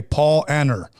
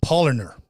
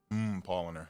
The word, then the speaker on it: Paulaner: I used to say Paul Anner, but the girl told me it's Paulaner. Paulaner.